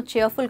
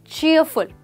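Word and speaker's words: cheerful: देखिए इसकी प्रोनाउंसिएशन में ईयर की साउंड है, तो याद रखिए ये डबल ई को ई नहीं ईयर कहेंगे। So that means चीयरफुल, right दोस्तों?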